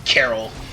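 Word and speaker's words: Coeurl: i gotcha ah stupid carol and by the way it's spelled c-o-e-u-r-l almost misspelled that by the way again that's c-o-e-u-r-l i'm pretty sure carol is not spelled that way but that's a mythical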